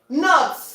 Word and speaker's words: knock: Knock. Knock. I'm knocking on the door. When you knock on the door, you see your K is also silent.